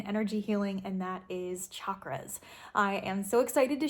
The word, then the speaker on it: chakra: She was a chakra instructor, yoga instructor, and she said that the way we pronounce it, or the way it is meant to be pronounced, is chakra with a ch instead of a sh.